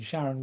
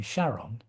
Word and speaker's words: Charon: He came up with the name Charon as a slightly changed pronunciation of the name of his wife, Charlene, plus on as in electron, positron, etc.